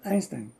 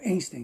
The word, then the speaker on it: Einstein: depois como Einstein ou Einstein, né? Eu é Einstein é um um nome de origem alemã. Apesar dele ser judeu, eh, não se pronuncia Einstein, é Einstein.